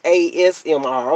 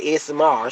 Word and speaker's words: ASMR: Okay, it's ASMR. Okay, because I be telling my SMR. She be telling Mom, you be saying it wrong.